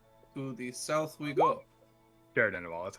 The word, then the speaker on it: Caer Dineval: Caer Dineval. That's how you pronounce it.